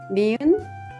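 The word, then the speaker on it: 니은: a strong k sound mean is similar to the English n Sound and the good has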